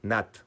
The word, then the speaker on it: Nantes: Es que Nantes se pronuncia Nat, pero si dices Nat, pues no te va a entender nadie.